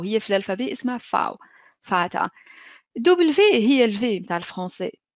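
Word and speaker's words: Vater: ب دبليو هي الفاو يعني ننطقوش عليها اف في الكلمه كيما فاتا ماي فادر بالانجلي فاتا بالالمان اوكي ماين فاتا نقول واضح دونك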